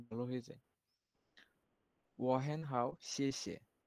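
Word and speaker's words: 谢谢: শেষে শেষে শেষে এ আপনার জিহ্বাটা একটু ইয়া করে শেষে শেষে হ্যাঁ, যে মানে একটা বাতাসের বাতাসের মাধ্যমে বের হবে যে শেষে শেষে জি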